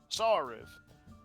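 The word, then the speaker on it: Sauriv: i'm sorry what was your name again friend sarif it's spelled like this in your tongue just s-a-u-r-i-v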